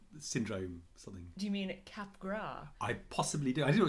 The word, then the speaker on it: Capgras: have been pronouncing it Capgras syndrome when it turns out is by a French guy so it's definitely cap gras and therefore anyone who